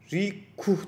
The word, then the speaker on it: Reka: Ve bu Rika UI, öncesinde bunun adı da Radix Vue, Radix Vue olması lazım bunun adı. Şöyle dokümanda bir yerde yazıyordu. Şurada yazıyorsa yazıyordur. Aynen. Bu arada Rikuh diye pronounce ediliyormuş.